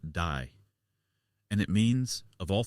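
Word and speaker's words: 大: It is pronounced "dai".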